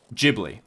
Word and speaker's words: Ghibli: or Studio Ghibli and the answer is Gibli because there is no Japanese syllable with the sound G in it. That's not that's not a Japanese sound that exists.